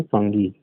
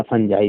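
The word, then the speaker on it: fungi: में हो जाएंगे, यानी फंगी या फंजाई भी बोलते हैं। तो आप जिसको जिस तरह प्रोनाउंस करें, फंगी बोलते हैं, फंजाई बोलते हैं, ठीक है।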